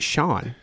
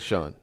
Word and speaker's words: Shun: today with a special guest his name is Shan but all the people that I've ever talked to the first thing they ask is is it Shan or is it Shawn well uh it's both a little bit of